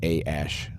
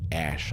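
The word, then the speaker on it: Æ: the baby's name x-a-12 which is that a e thing that's that's pronounced ash i'm told i think they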